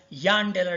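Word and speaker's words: Jahn-Teller: is called as a John-Teller effect or John-Teller distortion. Our professor used to pronounce it as Yan-Teller distortion. He used to say that this J should be pronounced as Y.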